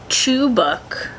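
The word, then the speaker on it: Çubuk: Chubuk. I guess C-U-B-U-K is pronounced chubuk.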